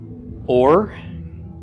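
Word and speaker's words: אור: followed by a race so the all of this silent Bob with the Coulomb is a long o sound the race is an arm so this would be pronounced or or means light okay so let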